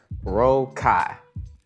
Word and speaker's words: Rokkai: still don't get so it's pronounced roll Kai right like roll your boat Kai like rhymes with pie or I say to people it rhymes with oh my um originally I was